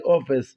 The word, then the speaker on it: office: office office fantastic fantastic ما تنساش ان السي لما يجي وراها اي او اي او واي بنطقهم زي office لكن ما جاش وراها حاجه هنطقها ك زي fantastic اتكلمنا بعد كده على